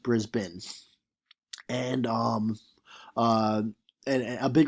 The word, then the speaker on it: Brisbane: So he'll say, "All right, Brisbane is spelt Brisbane, but it's pronounced Brisbane."